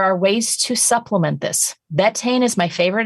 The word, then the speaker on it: betaine: stomach acid there are ways to supplement this betaine is my favorite it's a beet derived product it's an acid stomach acidifier so it's called betaine spell v-e-t a-i-n-e everyone always asks me what